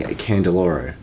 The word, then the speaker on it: Candiloro: I mispronounced your name. It's actually Ledger Award-winning Candiloro.